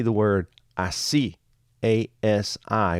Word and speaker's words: así: Just say the word así, A-S-I, with an accent on the I.